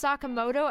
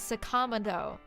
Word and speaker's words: Sakamoto: and i confirmed this they pronounced sakamoto as sakama though it's ridiculous anyway um